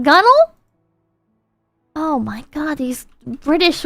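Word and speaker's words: gunwale: five dollars done well is pronounced gunnel oh my God these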